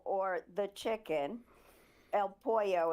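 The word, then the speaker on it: El Pollo: The former spy master of Venezuela, Hugo Carval Caral, aka El Polo or the chicken, El Poo is how it's pronounced. I said it wrong.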